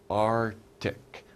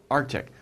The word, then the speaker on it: Arctic: right we say Arctic Arctic we don't really pronounce the C it's not Arctic it's Arctic Arctic okay Arctic that's the area around